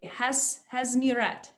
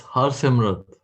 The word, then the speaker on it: Harsimrat: How do you say Hasmirat? How, say it for me. It's Harsimrat. Hasimrat.